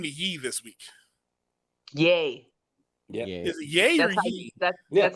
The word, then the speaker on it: Ye: he changed the name to yi this week yay yeah yeah yeah that's how you pronounce it okay all right well well congratulations